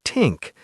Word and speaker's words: think: Think might sound more like tink, and this might sound like dis.